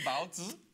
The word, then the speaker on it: baozi: Is that pronounced correctly? Bao zi?